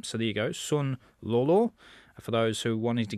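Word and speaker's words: Sun Lulu: in the tennis uh you remember her as Lulu son we've been calling her in the in the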